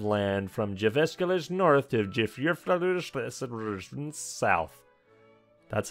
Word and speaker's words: Jyväskylä: He gained a capital and a solid vertical stripe of land from Jyväskylä north to Jyväskylä south. That's how you actually pronounce it, guys.